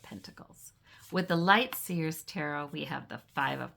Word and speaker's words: tarot: she said it's to actually the correct pronunciation is taro but in the US we've Americaized so many words, English words, French words, what have you.